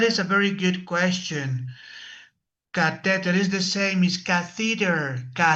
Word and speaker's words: catheter: Catheter is the same as catheter.